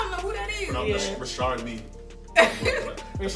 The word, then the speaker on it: Richard Mille: Rashard Lee. That's how you pronounce it, yeah.